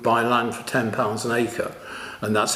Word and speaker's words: Acre: is spelt very similarly, but I think it's Acre, is it pronounced?